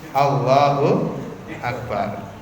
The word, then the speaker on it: Allahu Akbar: Seperti jenengan mengucapkan takbir itu kan bukan Allahu Akbaru toh. Nah jenengan takbir itu tapi Allahu Akbar.